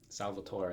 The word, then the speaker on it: Salvatore: last one would be S-A-L-V-A-T-O-R-E. And my dad said “Salvator’” . But when I went to Italy, they all yelled at me and said it’s not. Salvatore [Italian pronunciation: sal-va-tor-ay].